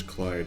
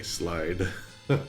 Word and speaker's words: Clyde: Like my name is Clyde. I don't want anyone ever to say slide. Luckily, that L kind of helps.